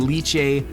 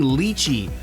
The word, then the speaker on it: Lychee: in the Cali sparkling leuch Lei I keep saying it wrong sparkling Lei right but sparkling Ley 39 to me is